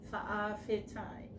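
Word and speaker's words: fa'afetai: asante in samoan um sometimes fa apostrophe a um f e t a i for a fee time that is thank you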